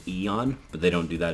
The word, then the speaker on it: Aeon: they call them Aeons that word is technically pronounced Eon but they don't do that in the game